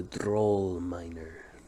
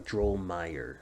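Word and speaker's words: Drulmeir: going to be named the droll Miner sorry troll Meyer so d r u l m e i r Pro Miner you gotta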